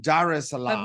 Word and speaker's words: Dar es Salaam: how do you say that Dar es Salaam Dar es Salaam we say she's joining us Corey Grace welcome